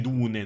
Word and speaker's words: Dune: chiudere sono le 11:00 ci siamo comunque si pronuncia Dune e non Dun Ma sei sicuro ma secondo